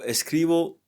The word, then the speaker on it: escribo: Notice that the B for escribir is pronounced like a V all the time. So that's how it is. Sometimes the B can be pronounced as a V.